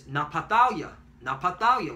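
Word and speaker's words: נַפְתָּלִי: Naphtali is Napatalia, which means my wrestling.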